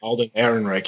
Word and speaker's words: Alden Ehrenreich: I'm still a little unsure of I don't know how to pronounce this. Alden Ehrenreich? Alden Ehrenreich, yes.